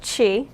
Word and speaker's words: Qi: that she it's pronounced chi Chi it's spelled Qi but it's pronounced Chi okay and she is the